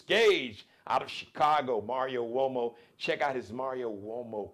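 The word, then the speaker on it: Uomo: collection Mario so wo it's not spelled with a W you think like what like wo no spelled with a u it's an Italian surname Mario m a r i o wo spelled u m o Mario wo and check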